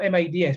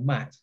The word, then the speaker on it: Mads: actually it's interesting though you spelled mads but it's pronounced mad or matte don't pronounce it yes